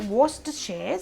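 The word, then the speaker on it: Worcestershire: That's how you pronounce it. Worstershare sauce.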